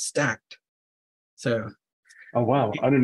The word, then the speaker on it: Stackd: it better yeah so how do I call it stack D sounds cooler it's stacked so oh wow I